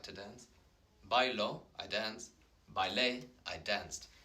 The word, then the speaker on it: bailé: And the accent is really important because it changes. Baile, un baile is a dance, but bailé is I danced. So it kind of changes the pronunciation. It's the accentuated or emphasized syllable, the one with the tilde, with the accent.